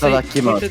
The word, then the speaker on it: itadakimasu: Why every time in Sailor Moon they're like about to eat, they go ikimasu, No, it's Itadakimasu. Itadakimasu. ititakimasu.